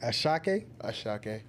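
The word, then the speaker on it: Asake: Ashake.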